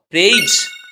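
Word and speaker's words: praise: এর সাউন্ডটা হয়ে গেল বর্গীয় জয়ের শেষে থাকা ইর কোন সাউন্ড হয় না তাহলে উচ্চারণটা কি হলো প এর রফলা একা রসই প্রেই বর্গীয় জ প্রেইজ আর হ্যাঁ জ এর পরে কিন্তু কোন রকম আমাদের ভায়েলস সাউন্ড করছি না যে আমরা প্রে জ বা প্রেজি এরকম কিছুই করছি না সেই জন্য জ এর নিচে অবশ্যই হসন্ত সিম্বল দেবো ঠিক একই ভাবে পি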